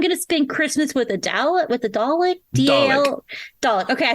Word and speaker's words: Dalek: that's called "I'm Gonna Spend Christmas with a Dalek."